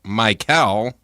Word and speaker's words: Mikel: Well, Chris is Mikel Brown Jr.'s first name is pronounced Mikel, similar to the name Michael. Mikel. Okay, so it's not Mikel. Michael. It's not like McDonald's. No. It's like Michael.